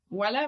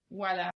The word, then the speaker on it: Ual·la: It's with L geminada, Voila with L geminada, right? Okay. Yes. So this It's like... okay. Yeah, no. I mean, yeah, okay. Can we see it on the screen? Voila.